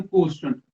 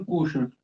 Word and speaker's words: quotient: Quotient, quotient की spelling है QUOTIENT, quotient, और हम इसको कहते हैं reaction कोस्टेंट, reaction कोशेंट, QUOTIENT, कोशेंट। Reaction कोशेंट या कंसंट्रेशन कोशेंट,